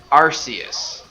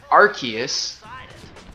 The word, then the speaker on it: Arceus: Because in Battle Revolution for Wii it was pronounced Arceus. Okay, And then in the Jewel of Life movie it's pronounced Arceus.